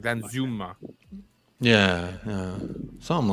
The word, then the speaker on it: Danjuma: pronounced with a z I thought it was Dan Zuma that's what I thought well I I thought I thought that was the Netherlands pronunciation it's not it's not Dan Juma it's like then Zuma yeah yeah something like